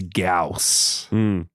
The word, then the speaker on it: Gyaos: And today's movie is Gameamra versus Gaus.